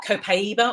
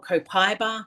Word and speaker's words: copaiba: Uh, copaiba or copiba, depending what country you're in, is how you'll pronounce it.